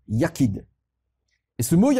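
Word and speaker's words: יחיד: ch y figure est d et que l'on prononce ya kid et se mouiller à quai dans le trou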